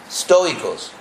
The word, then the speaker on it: estoicos: llamaban en español sería estoicos. ¿Cómo se dice? Estoicos, sí. En español, ST requiere un E.